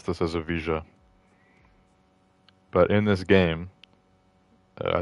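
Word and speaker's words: Evija: were pronouncing this as a vaa and I think I looked it up and it is technically pronounced avaa which silent Jays are not really a thing in British uh culture you know Lotus is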